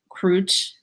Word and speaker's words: Krouch: This is Krouch. Sorry, did I pronounce that right? In Cambodian and Khmer, it's Krouch.